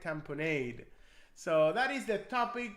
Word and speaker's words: tamponade: In today's training, we're going to talk about cardiac tamponade or cardiac tamponad. I know there's a different pronunciations out there. I like to say cardiac tamponade.